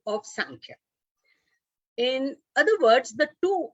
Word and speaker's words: Sankhya: Samkhya and Sankhya.